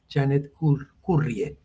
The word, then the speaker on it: Janet Currie: card y ese es y se pronuncia este nombre es de es canadiense escurra y se escribe janet currie es una gran economista